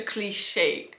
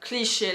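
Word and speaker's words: cliché: a cliche a cliche so when I pronounce like that it's more in the American English way like such a cliche a cliche so I very like un fies a little bit on the second part of the word if you pronounce in French it's cliche cliche there's not like we don't unise we don't really unise into the words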